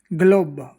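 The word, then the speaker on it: globo: है, तो जी एल, जी के बाद में एल आ जाए तो इसका उच्चारण गल की तरह होता है।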